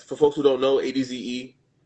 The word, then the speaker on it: adze: Um ads for folks who don't know ADZ pronounced ads like more than one ad is a woodworking tool.